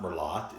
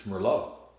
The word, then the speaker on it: Merlot: It's not Merlot, it's Merlot.